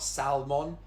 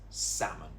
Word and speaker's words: salmon: This one has a silent letter. It's not salmon, just get rid of the L. It's salmon. Salmon.